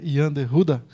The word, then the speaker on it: Jean de Goede: gente logo descobre que a maneira correta de pronunciar é Jean de Goede, certo? O IBDT aproveita a visita